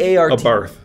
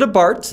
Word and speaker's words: Abarth: an a a b a barth a bart because i've heard it a bart i've heard pr people say abarth yeah i've heard pr